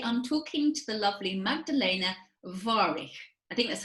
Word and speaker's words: Magdalena Warych: And today I'm talking to the lovely Magdalena Warych. I think that's how you pronounce it, isn't it, Magdalena?